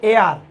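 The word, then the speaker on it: heir: তাইলে দি ওল্ড ম্যানের ছিল কি হ্যাজ ছিল উত্তরাধিকারী, তাইলে এই এইচটা অনুচ্চারিত এইচ, উচ্চারণ হয়েছে এ আর, যার কারণে তার পূর্বে এন বসেছে।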